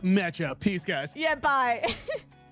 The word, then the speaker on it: Meccha: Before you got off, you should have been like, and it's pronounced Mecha.